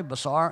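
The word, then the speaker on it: בשר: 13:20 that word is basar which means flesh but it's also related to 1319 that word is pronounced the same way basar and that is the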